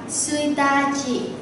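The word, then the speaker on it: 一日: Nhất nhật là mùng 1 mình sẽ đọc là suitachi. Thằng này vì nó là đặc biệt nên các bạn phải nhớ. Rồi, tiếp theo cô cho thêm một ví dụ nữa.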